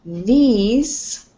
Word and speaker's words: these: going to be important because this has a short i sound and these has more of a long eye sound yeah okay very good